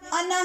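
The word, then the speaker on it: أنا: لفظ انا میں نون کے بعد والا الف لکھا جاتا ہے، پڑھا نہیں جاتا، ہمیشہ انا ہی پڑھتے ہیں۔ لیکن میں جو نون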